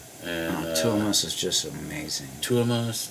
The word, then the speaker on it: Tuomas: Tuomas. Tuomas. It's, sorry if I'm mispronouncing. It's kind of like a Northern American pronunciation of Thomas. It's like Tuomas.